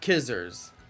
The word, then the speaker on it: Scizor: do one outbreak tonight Scizor is pronounced like scissors with no s so kissers scissor with no s